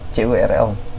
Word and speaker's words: curl: Linux pasti ada curlnya, curl. CURL, nah itulah harus bacanya kayak gitu, CURL.